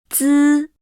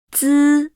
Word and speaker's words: 滋: 滋 Is pronounced with no strong airflow, while 呲 comes with an obvious airflow.